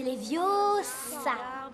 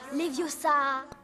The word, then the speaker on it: Leviosa: Et puis d'ailleurs, tu ne sais même pas le prononcer. C'est Leviosa et pas Leviosa.